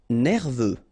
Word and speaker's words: nerveux: Nerveux. Final X not pronounced.